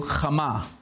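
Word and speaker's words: חמה: So to kind of give you an idea, the sun is called in Hebrew Chama, which is transliterated H-A-M-M-A, Chama. All right, Chama.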